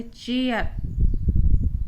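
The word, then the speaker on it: chair: फिर है चेयर, रा भी कम बोलेंगे। ए आई का उच्चारण चेयर ए के रूप में हो रहा है यहाँ पे।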